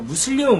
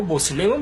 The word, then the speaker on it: 무슬림: 권을 따라서 무슬림이라고 하는데요 모슬렘 잘못된 표현이에요 그런 단어가 없어요 이슬람에 그래서 이슬람에서는 종교